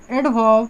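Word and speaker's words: adverb: एडवर्ब, इसमें भी are silent होता है, एडवर्ब।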